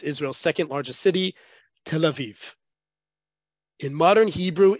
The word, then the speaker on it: Tel Aviv: native Israelis native Hebrew speakers will always say Tel Aviv okay it's Tel Aviv the both in terms of where the syllable the emphasis on the syllable has to